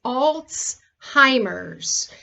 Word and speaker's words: Alzheimer's: the following so there's alzheimer's disease it's the most well-known and it by the way it's pronounced alts hymers um and it's not old-timers it's usually aggressive and